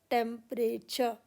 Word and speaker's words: temperature: टेम्पर, TEMPER, और एचर, चर, TURE, टी यहाँ पर च की साउंड दे रहा है, टेम्परेचर।